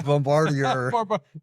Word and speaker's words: Bombardier: Bombardier.